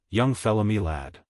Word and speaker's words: young fella my lad: This curious phrase he pronounced as if it were all one word, young fella me lad.